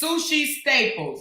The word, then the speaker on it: Sushi Staples: And Her name is Sushi Staples. Like sushi, like you eat the food or whatever. It's spelled just like it's S-U-S-H-I.